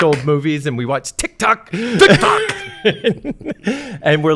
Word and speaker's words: Tik Tok: I had I had a Tik Tok account as a brand. Uh you have to say it like a Filipino.